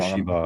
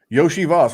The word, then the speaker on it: Iosivas: Is that how you pronounce it? Because I always get names wrong. Iosivas. Yoshi, like Yoshi. Like Mario's friend. Yes. Yeah. Yes. Yeah. Yoshi Okay. Voss. Yoshi Voss.